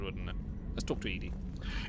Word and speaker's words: EDI: are you named Edie? EDI is the phonetic pronunciation of EDI.